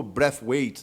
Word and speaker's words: Braithwaite: rapaziada bora falar sobre bright White ou Breath weight né e no no na pronúncia correta como ele mesmo já falou mas eu acho que